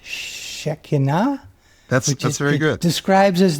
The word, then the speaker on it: Shekhinah: The Shekhinah, that's how it's pronounced in modern Hebrew.